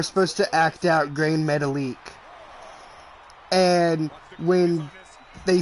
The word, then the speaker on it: Metalik: And finally somebody goes, do you mean Grand Metalik? And she goes, but his name is spelled metallic.